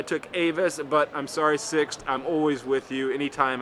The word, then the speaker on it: Sixt: Yes, as you saw in today's vlog, I prefer Sixt. I always go for Sixt. That's spelled S-I-X-T.